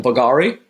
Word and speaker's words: Bulgari: How do you pronounce that? Bulgari.